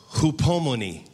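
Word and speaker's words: ὑπομονή: Hupomone. Hupomone. Hupomone. I like to say hupomone. Sounds more like ice cream.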